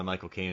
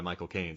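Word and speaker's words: Michael Caine: Well, isn't the easiest isn't the cheat to it is to say his name, but don't say Michael Kane. You say my as in possessive cocaine, the drug.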